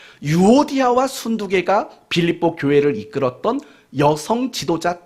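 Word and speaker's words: 순두게: 발음을 잘 하셔야 돼요. 순두개입니까? 순두부입니까? 순두개. 유오디아와 순두개가 빌립보 교회를 이끌었던 여성 지도자 두 사람이었다고요.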